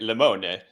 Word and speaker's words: Limone: Are we Are we saying it right? Lemon. Lemon, right? I knew it.